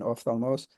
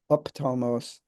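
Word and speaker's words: ὀφθαλμός: Even a word like ophthalmos, which I pronounce in the modern fashion, ophthalmos, in ancient Greek was not a f and th, but rather a p and t, ophthalmos, like that.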